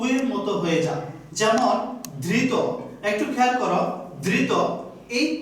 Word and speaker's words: ধৃত: এই জন্যই ধৃত এটার উচ্চারণ হবে ধৃত, অর্থাৎ এই ত এর শেষে যে অ আছে এই অটা সংবৃত হয়ে যাবে, ধৃত ধৃত।